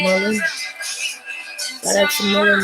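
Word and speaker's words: Mullein: Took some Mullen. That's how you pronounce it, Mullen.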